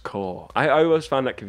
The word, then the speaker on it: Corps: it why is it spelt corpse or it's pronounced core i always found that could be i used to always say corpse until someone like pulled me up my name